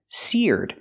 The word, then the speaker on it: seared: steak in the oil pronunciation seared use the ear sound like beer and near sear plus the D sound seared the steak was